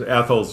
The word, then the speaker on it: Athol: And there's actually a local video that says if you want to know how to say this town, hold your tongue and call somebody an asshole.